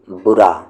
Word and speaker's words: برا: سے با را الف، اس کو آپ کو پڑھنا ہے بڑا، اور اسے آپ کو پڑھنا ہے برا، ٹھیک ہے؟